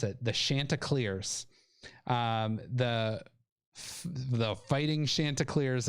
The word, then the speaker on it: Chanticleers: i i think i found out how to pronounce it the shanta clears um the the fighting chanticleers of coastal carolina